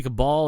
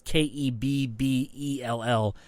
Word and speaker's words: Kebbell: I always say Cabal, but it's not right. It's Kebbell, which is Kebbell or Kebbell.